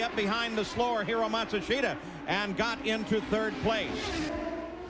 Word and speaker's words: Matsushita: By the way, the pronunciation on Matsushita, that is now how his team says they'd like it used.